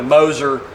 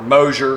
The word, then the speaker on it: Moser: So what we end up doing is running a Moser, or Mosier, however you want to pronounce it, one-piece rear axle.